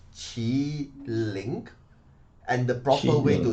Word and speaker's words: Qiling: spelled queening it in in chinese language is chi link and the proper way